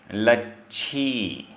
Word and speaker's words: लच्छी: लच्छी आधा छ, लच्छी संसत्तमणो आधा ता पूरा ता, संसत्तमणो, लच्छी संसत्तमणो, लच्छी संसत्तमणो।